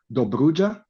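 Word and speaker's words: Dobrudja: And the name is Duja.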